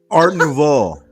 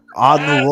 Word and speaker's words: Art Nouveau: No, Teach me the correct pronunciation. I don't want to seem like It's Art Nouveau. Art Nouveau.